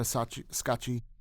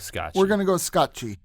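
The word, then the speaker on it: Scacchi: love interest uh Greta scotchi there's some debate as to how to pronounce her name we're just going to go with scotchi we're going to go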